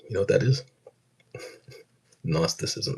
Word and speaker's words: Gnosticism: Gnosticism. It starts with a G. Um, uh, I would say gnosticism or gnosticism, but it's G is silent. Doesn't need to be there.